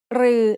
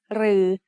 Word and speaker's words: รือ: รือ is pronounced like a combination of รอเรือ and the long vowel สระอือ They are both written like the letter ถอถุง with an extra long line.